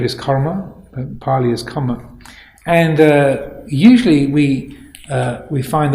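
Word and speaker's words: kāma: karma has psychological value but this is spelt k-a-m-a but i think what is meant is karma as in with an r in there because comma with karma with one with one m means sense pleasure sense desire so i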